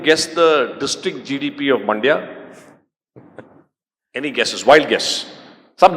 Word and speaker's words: Mandya: I use this example because it rhymes with India, but there's a district called Mandya, right?